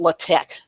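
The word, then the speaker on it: LaTeX: like that it's um they call it they pronounce it latch and it's an old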